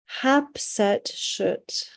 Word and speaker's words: Hatshepsut: Hatshepsut.